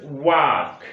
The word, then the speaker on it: walk: There is something small thing to clear, like there is walk, W-A-L-K. So here the L Went. The L is silent somewhere and somewhere it sounds.